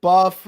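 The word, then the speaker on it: Buffa: uh but even if buff because it rhymes with tough wins even if midoriya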